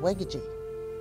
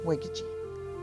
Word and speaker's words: wegeji: and that was called wegeji. Wegeji is the grease part, the fat part, or the grease. Wegeji. Wegeji. Three syllable word.